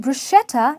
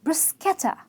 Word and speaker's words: bruschetta: Its raspberry (ras-berry) and not rasp-berry,it’s not cocoa (coca) its co-co,it’s not bruschetta (brus-she-ta) its brusketta ,a very delicate pronunciation to brus-ketta ,it’s not oh-nions it’s un-nion(onions)